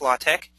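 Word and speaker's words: LaTeX: accessible a blind user can actually use a latch code which is spelled l a t x but it's pronounced latch uh to enter in the same information in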